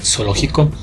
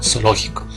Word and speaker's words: zoológico: Aquí en Ecuador, pues, si nosotros pues pronunciamos pues zoológico, pues la Z suena como S, ¿no? Zoológico. Claro, si vamos pues a España, allá pues la Z suena en ocasiones como sería zoológico, ¿verdad?